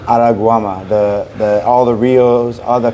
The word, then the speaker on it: Araruama: Araruama? Araguama.